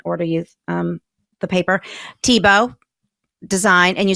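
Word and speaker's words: Thibaut: and we can order you um the paper TBO design and you spell that t h i b Au u t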